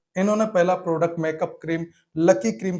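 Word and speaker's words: 락희: इन्होंने पहला product makeup cream lucky cream के नाम से बनाया। यहां पर लेक हुई का उच्चारण लकी है।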